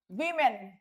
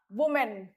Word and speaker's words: women: Plural of woman is women, and its pronunciation is women, not woman, okay?